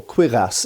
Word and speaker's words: cuirass: can see what's essentially a cuirass, or quirass as it should be pronounced.